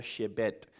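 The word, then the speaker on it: שבט: La palabra que se usa ahí para vara es una palabra que se pronuncia shebet.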